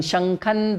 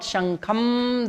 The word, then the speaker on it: Shankham: we will recall, oh, this is how I was pronouncing Shankhan Dadmau and not Shankham Dadmau. See, the ma is coming in between, it is not flowing.